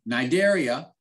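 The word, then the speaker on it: Cnidaria: sciphonophores jellyfish all right nidaria silent c it kind of reminds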